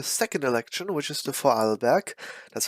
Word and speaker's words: Vorarlberg: on to the second election which is the fall back that's how you pronounce it local electro state elections just two